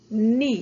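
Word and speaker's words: knee: uma vez thai Oi Ni e presta atenção que Apesar dele começar com o k o k não é pronunciado É como se começasse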